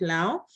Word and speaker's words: Lango: So I come from a tribe that is called Lao and written Lango, and it's in the northern part of Uganda, but we pronounce it Lao.